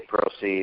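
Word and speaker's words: Prosise: Prosey, or I think that's how you say his name.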